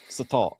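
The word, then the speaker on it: sotol: I was saying total. No, that's Italian. Satol.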